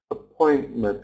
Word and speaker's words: appointment: appointment um outp patient appointment can you hear something I'm not pronouncing the T appointment appointment outpatient out patient